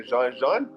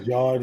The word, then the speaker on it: Jean: And if you ain't saying the Jean, you're saying wrong. You saying the George, you ain't saying it right.